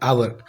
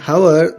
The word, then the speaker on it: hour: Now take an example of an an hour. In hour the word H is consonant but H is silent.